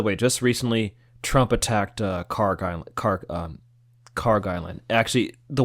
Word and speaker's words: Kharg: It could be It could be pronounced In English I think it's pronounced Kharg, but I think in um in Persian or Arabic is is a Kharg Kharg Island. Cuz the KH is a Khh sound.